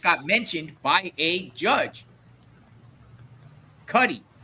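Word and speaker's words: Cudi: Cuddy like muddy.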